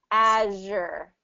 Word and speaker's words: azure: it's the same position as the sh sound but it's voiced azure as i i i